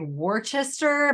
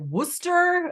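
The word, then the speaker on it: Worcester: no that's that's an I was thinking of like Worchester but it's like Wooster out here but that's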